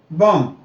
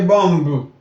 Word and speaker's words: bomb: Bomb. You don't say bombu. You understand? The B's there are silent every time. Just like in those T, I said the T before, listening, fasting.